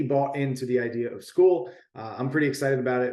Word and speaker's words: Skool: welcome in today's video we are going over school it's spelled s-k-o-o-l and it's a software that will